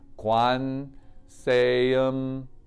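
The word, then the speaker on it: Gwanseum Bosal: cultivating that for others so the pronunciation of that is guan say if you were to spell it it would be g-w-a-n-s-e-u-m-b-o-s-a-l and the pronunciation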